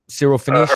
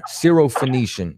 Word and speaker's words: Syrophoenician: You just said you pronounced it. Syrophoenician.